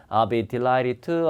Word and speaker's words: I'd be delighted to: DT 만나면 D 발음 안 하니까 I'd be delighted to, I'd be glad to, I'd be happy to.